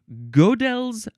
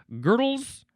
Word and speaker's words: Gödel's: All right, now we are moving on to Gödel's theorem. You can also pronounce it Gödel's theorem or Gödel's theorem, something like that.